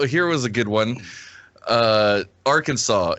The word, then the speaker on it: Arkansas: states like well here was a good one Arkansas it's strictly prohibited to pronounce our Kansas Arkansas incorrectly what yeah apparently they take great